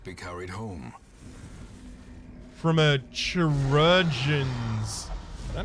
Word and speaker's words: chirurgeon: From a chirurgeon's. Is that how it's pronounced? I was told last time that it's pronounced the same way as surgeon, but it can't be exactly